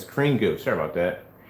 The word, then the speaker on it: Screen Goo: Goose screen, this is 2 years ago. Screen Goo. I'm saying the name wrong. All the time I'm saying goose screen. It's Screen Goo.